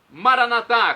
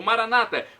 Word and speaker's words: Maranata: E agora eu clamo do aramaico Maranatá, como dizemos nós católicos, ou Maranata, como dizem nossos irmãos separados, os evangélicos ou protestantes.